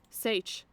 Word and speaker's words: seiche: Um, Sish, how do you pronounce that? Sage.